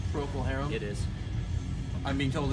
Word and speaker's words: Procol Harum: a Procol Harum I don't that's why you pronounced Procol Harum it is I'm being told it is there